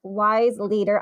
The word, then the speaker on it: Weisleder: for coming back to part two with wise leader did I do it did I say it right Dan yeah perfect perfect yeah so everyone probably knows by now so it's wise leader I'm so excited to say it right because